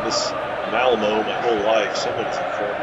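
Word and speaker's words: Malmö: I've been pronouncing this Malmo my whole life. Someone's informed me that the umlaut, I think is what it's called, over the O, makes it pronounced more like Malmo instead of Malmo.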